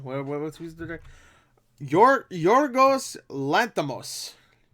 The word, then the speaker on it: Yorgos Lanthimos: Audience reviews have been a little mixed, which is that's to be expected from Yorgos Lanthimos. What's who's the director? Yorgos Lanthimos. I think that's how you pronounce his name right there.